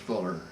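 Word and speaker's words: Pfueller: the german fueler but it's pronounced fuller and when it's americanized and so do the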